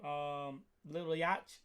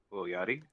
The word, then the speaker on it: Lil Yachty: Lil Yachty. Lil Yachty?